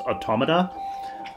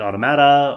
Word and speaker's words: Automata: to pronounce the title I believe it's based off of the word automaton and so therefore it's supposed to be pronounced automata but I've also heard people pronouncing it automata or what have you so I'm gonna go